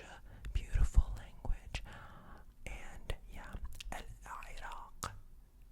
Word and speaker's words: العراق: And yeah, Iraq. So the ending of this also has the qa, the qa, the qa, qa, qa.